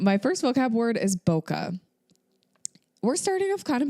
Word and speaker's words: bokeh: little bit different um the H at the end of bokeh was actually introduced to help English speakers pronounce the word correctly um so the official